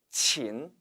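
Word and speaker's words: 秦: 왕조는 바로 집 나라죠 이 집 나라는 중국 발음으로 는 친 친 이라고 발음합니다 그런데 그 이웃에 있는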